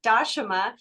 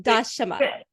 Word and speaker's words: Dashama: Just wanted to, my name is pronounced Dashama, but some people call me Dasha if it's hard to remember the pronunciation. So yeah, one more time, Dashama.